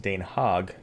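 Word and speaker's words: Den Haag: the Netherlands and they speak Dutch and it's pronounced Dane hog and isn't that that interesting that this is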